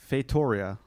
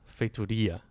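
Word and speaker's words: Feitoria: pretty good so okay first thing the stress is on fatudia not too bad the r is still awful but no well it's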